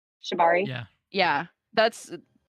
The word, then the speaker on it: Shibari: thing uh I think is that how you pronounced it shabari Shibari yeah yeah that's like rope and stuff like